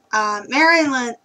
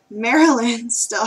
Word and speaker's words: Marilyn: work or school soon maryland oh that's not how you say her name marilyn still has a little bit